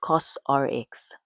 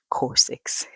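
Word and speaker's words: COSRX: It's actually pronounced COS RX, not Corsix.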